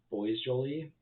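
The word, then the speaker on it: Boisjoly: because as quoted when Roger boys Jolie and actually that's how his name's pronounced brought up the concern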